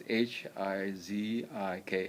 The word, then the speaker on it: hijiki: It's Hiziki, or in Japan, I think they spell it Hijiki, and it will do your body good.